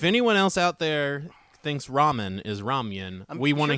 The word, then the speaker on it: ramen: uh you know uh ramyan oh yeah absolutely you pronounce ramen as ramyan um I pronounced Ramen is ramyan yeah I think how it